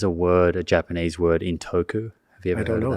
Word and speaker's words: Intoku: How do you spell it? Or what's Intoku.